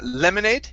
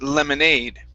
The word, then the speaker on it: lemonade: word instead of uh lemonade with the stress at the beginning it's lemonade with the stress at the end and lemonade lemonade there